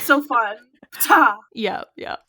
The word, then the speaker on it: Ptah: Ptah. Yeah. As far as I know, that is in fact correct how you say it.